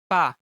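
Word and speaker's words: 빠: Or pa. One more time. Pa, pa, pa. But it's more likely read as pa. To pronounce it correctly, put pressure on your lips as you speak.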